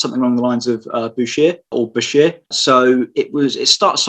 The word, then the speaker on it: Bichir: So the SH in that word gets turned to a CH. So the pronunciation became Bichir in the French spelling. There's a bit of an argument, I suppose, or more of a technicality, really, that when the name becomes Latinized, you stick with the Latin pronunciation, which would mean the CH becomes a K, so it's biker.